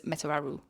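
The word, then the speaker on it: Metuarau: So this is how it is phonetically spelled out. Met-u-a-ra-u. So we thought it was Metararu.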